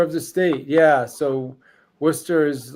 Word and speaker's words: Worcester: Um, we we we call it Worcester. I don't know how that happened, but that's how we pronounce it. But I think anybody else without knowing that would definitely looks like it says Warchester, right?